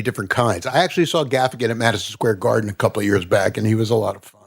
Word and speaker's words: Gaffigan: I like Jim Gaffigan.